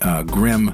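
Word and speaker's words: Grimme: Oh, and it is pronounced Grim. I did go to the manufacturer's website and get the pronunciation.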